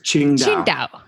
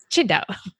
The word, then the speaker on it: Qingdao: And he lives with his wife and two children in Qingdao, China. Did I pronounce it well? Close enough. Yeah, you're Tell close me, enough. how do I pronounce that? It's Qingdao. Qingdao.